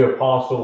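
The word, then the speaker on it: Apostol: the author's name wrong it might be apostle like this tol not tle anyways doesn't matter let's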